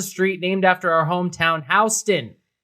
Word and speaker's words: Houston: named after our hometown Houston thank you for saying it right I'm pronouncing that way because that's yeah that's the way you pronounce I got yelled